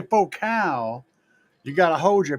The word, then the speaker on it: Focal: It's a faux cow. That's what I said, ain't it? Did I not say faux cow? Or are you trying to say faux cool? It's spelled focal, damn it.